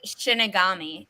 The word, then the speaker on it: shinigami: figure it out next by the way shinigami is how you pronounce that okay thank you thank